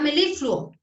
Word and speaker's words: melifluo: Está melifluo. Fluo. Ah, ok, entonces la sílaba tónica sería la li.